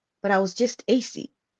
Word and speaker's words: AyCee X: but I was just AC like yeah so the ex as I said the ex is silent it's just there for